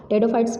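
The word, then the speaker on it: Pteridophytes: टेडोफाइट्स पी से start होता है, पी साइलेंट होता है.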